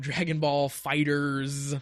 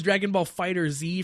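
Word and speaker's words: Dragon Ball FighterZ: we have Dragonball Fighters with the Z I think is how they they want that pronounced I thought it was Dragon Ball Fighter Z for a long time but I think it's literally Dragon Ball fighters but that game looks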